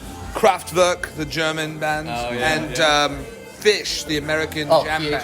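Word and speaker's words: Phish: Kraftwerk, the German band, and Fish, the American jam band. P-H-I-S-H? P-H-I-S-H, like Yeah. the animal fish, but it's spelled differently Yeah, in a very weird way.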